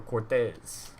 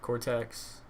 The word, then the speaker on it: Cortex: Or Cortez? No, there's no Z in it. All right, Cortex.